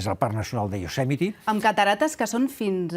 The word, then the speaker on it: Yosemite: El de Yosemite s'escriu Yosemite, però es pronuncia Yosemite.